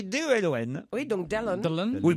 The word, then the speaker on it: Delon: C'est pas Dylan, donc c'est c'est pas Dillon. C'est un étranger. Alors oui. Dillon. J'ai pas la réponse, mais c'est un On y étranger. arrive, C'est on y va Dylan. doucement. Dylan. Non, ça Dillon. s'écrit D-E-L-O-N.